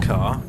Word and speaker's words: Ka: car it's the ford ka yes it's like stop it you're being pretentious it's the ford car it's pronounced car it is a car